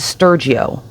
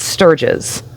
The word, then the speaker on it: Sturgis: to hear people online refer to Sturgeis as Sturggio, and that's just like the internet doing what it does. One person mispronounced it, others repeated it, and suddenly the algorithm decided that that was his name. But correctly pronounced, it's Sturgis.